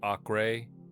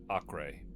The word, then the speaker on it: Acre: I do believe it's actually pronounced array or AI.